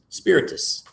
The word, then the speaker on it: spiritus: Spiritus.